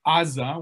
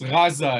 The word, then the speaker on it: Gaza: right uh uh term in hebrew we say aza with an a but it's really a a sound that doesn't exist in hebrew or in english uh but anyway it's gaza is the correct pronunciation and during the the